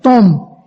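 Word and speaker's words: תהום: Esta palabra es una palabra griega que se escribe T-H-O-M, tom, y significa aguas o depósitos subterráneos.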